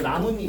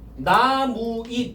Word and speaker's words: 나뭇잎: 이 나뭇잎 이제 여기서 가보자. 봐봐. 나무잎 이러면 안 되지? 우리 발음하면 어떻게 돼요? 나뭇잎, 나뭇잎. 그러면 여기서도 니은이 덧났고 뭐로 바뀌어 있어? 니은으로 바뀌었지?